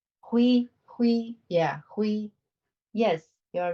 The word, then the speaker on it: 辉: And how do you say Hui? Hui, yeah, Hui.